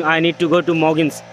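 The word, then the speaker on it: Mougins: When I saw them that, they were like, oh, Moja. I say, Moja? How it could be Moja? But their pronunciation and our pronunciation is quite different.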